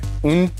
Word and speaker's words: une: Une surface très glissante. You're close. Here the S is silent.